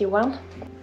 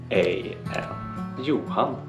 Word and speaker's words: Johan: Johan. Johan. And when you say it fast, it's like Johan. The H is silent, I guess.